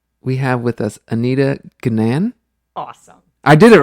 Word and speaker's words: Gnan: So I went with Gnan. All right. So that's right. It rhymes with fan.